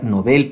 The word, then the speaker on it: Nobel: ejemplo el premio nobel a propósito se pronuncia novel para diferenciarlo de novel novel con best pequeña